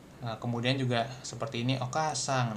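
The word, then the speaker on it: お母さん: Okasang. Nah, ini sama lah ya. Jadi a-nya lebih panjang seperti itu pronunciation-nya hatsong-nya. Kemudian kalau di biasanya ini ee apa?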